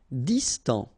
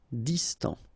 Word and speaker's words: distant: Distant. Final T not pronounced. Distant.